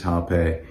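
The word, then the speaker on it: rapé: as rape as well it's actually um spelled with r but it's pronounced with h so correct pronunciation is hape um and there are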